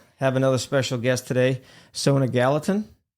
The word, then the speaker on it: Sona Gallatin: Uh, have another special guest today, Sona Gallatin. Hi, John. Am I pronouncing that right?